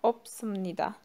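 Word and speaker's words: 없습니다: Yine okurken bu S harfini okumuyoruz. Okunuş kuralı. Opsımnida diye okuyoruz.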